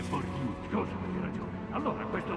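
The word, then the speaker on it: Bordeaux: Bordot, roba costosa. Non si dice Bordot, si dice Bordiù.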